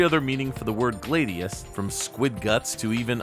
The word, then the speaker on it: gladius: However, it's worth noting that the Roman sword is specifically pronounced gladius. Since North American English is rooted deeper in Latin, we can safely say that it's gladius.